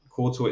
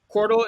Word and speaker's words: Qortal: I guess where can people find you and Qortal itself, all the links and everything else? Yep. So, Qortal is spelled no U. There's no U in Qortal. It's like portal with a backwards P, right? So Qortal.